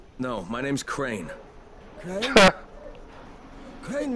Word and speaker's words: Crane: Crane rhymes with train and brain and sail and crane the other and kind rain of plane.